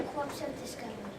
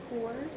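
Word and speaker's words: Corps of Discovery: Discovery very good so we don't say it corpse say core core like the peace core is spelled that way too so and like the Marine Core Mar is also spelled that way it's o r PS c o r PS but you say corse right because if you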